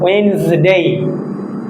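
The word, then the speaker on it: Wednesday: ওয়েডনেসডে, বাট এইখানে ডিটা silent থাকবে, ডিটা উচ্চারণ হবে না, তাহলে হবে হালকা একটু ভাইব্রেট হবে, ওয়েডনেসডে।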